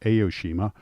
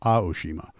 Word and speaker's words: Aoshima: I did the video on them and kept pronouncing it Aoshima. Apparently it's pronounced A, not A, so it's Aoshima.